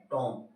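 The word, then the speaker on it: tomb: next आ गया टी ओ एम बी क्या silent हो रहा है टॉम आ गया समझ में इसके अलावा लम एल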